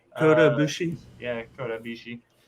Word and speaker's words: Kota Ibushi: Dakota is bushy. Kota Ibushi.